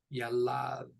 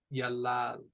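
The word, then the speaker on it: ילד: It is pronounced yalad, yalad. So we've got 2 syllables. The stress goes on the second one. And we've got a kamats and a patach.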